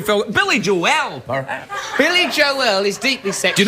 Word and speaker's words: Joel: Billy Joel is deeply sexual. Do you notice how I said Joel? It was that extra syllable Yeah, that I drove said Billy me wild.